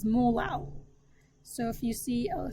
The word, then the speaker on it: molal: The units would be moles per kilograms, or little m, which you pronounce as molal.